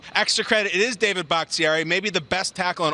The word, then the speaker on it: Bakhtiari: And I also want the proper pronunciation. That's the big guy out of Colorado, David Bakhtiari.